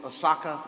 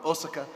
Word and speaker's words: Osaka: Korea then on to Sokka or Osaka as they pronounced it in Japan Japan and then on